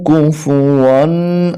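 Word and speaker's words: كُفُوًا: হাহা দাল দুই পেশ দুন আহাদুন ওয়ালাম ইয়াকুল্লাহু কুফুয়ান আহাদ ওয়ালাম ইয়াকুল্লাহু কুফুয়ান আহাদ সূরাতুল ইখলাস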